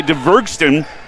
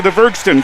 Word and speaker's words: Dvergsten: Now a shot is off the rim here by DeVergston, and the second rebound for Reese Terwilliger. DVERGSTEN. It is spelled like it sounds.